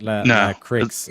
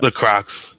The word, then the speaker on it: La Croix: That's an American pronunciation because it's a French word. So it's La Croix.